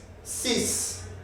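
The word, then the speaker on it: six: It can be C without pronouncing the X when maybe it's followed by any other digit, like C collège. So the X cannot be pronounced because there is another word which is following the number. C collège. But if it is only this number as a single, it is 6.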